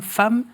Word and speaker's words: Pham: votre prénom à l'origine, vous êtes né femme, c'est comme ça qu'on prononce ?